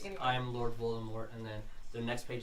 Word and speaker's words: Voldemort: It's pronounced Voldemort.